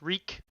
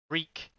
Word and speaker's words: Reek: His name is Reek. Reek, it rhymes with leak.